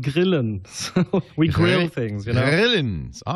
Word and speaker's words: Grillen: So we grill things, Grillen. All right. Well, yeah. So we have to come from back in the throat, then it's the right way to say it.